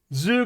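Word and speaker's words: 頭: So this phrase is zoo. It's the same kanji atama, but here it's pronounced zoo.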